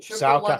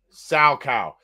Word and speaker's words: Salchow: Sow cow. SALCHOW. I might have pronounced it a little off, but sow cow.